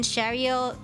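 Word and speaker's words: Chariot: that you know um the t in shario is not silent uh but i i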